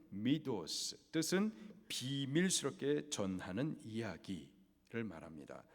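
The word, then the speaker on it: μῦθος: 두 가지입니다 첫째로는 신화에요 헬라 발음으로는 미도스 뜻은 비밀스럽게 전하는 이야기를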